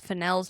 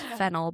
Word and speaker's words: Fennell: So, if we butcher it, just Well, and I found out I've been saying Emerald Finel's name wrong. I thought it was Fennel, but it's Finel.